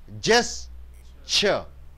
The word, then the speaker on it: gesture: to express an idea you pronounce it as just gesture just cheer two beatings two sounds he gestured me